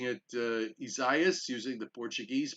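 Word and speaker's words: Isaías: to pronounce it right mrs rayo yes like pizzeria no please don't you know yeah no no there's no there's no the s at the end so the s is silent are you sure this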